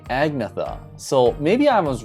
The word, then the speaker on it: Agnetha: to pronounce her name it's pronounced like saying any and yeta together fast and yeta so i did watch a video of that but you know what i've heard people say agnetha so maybe i was